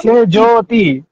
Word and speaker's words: সেজুতি: দিকে টিটি বলতে কি সেজতি সেজতি ভাই আমার নাম সেজ্যতি হ্যা কিন্তু কোন রস্যু নাই তো উচ্চারণ করে এভাবেই বলতে হয় দিনশেষে সবাই সে জুতি ডাকতো মৌসুমী মৌ আমাকে অনেক